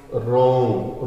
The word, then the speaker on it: wrong: बट आई वॉज रॉन्ग। रॉन्ग का मतलब WRONG, रॉन्ग। रॉन्ग का मतलब क्या था? गलत। लेकिन मैं गलत था। W इसमें साइलेंट रहेगा, आपको पता होगा बच्चों।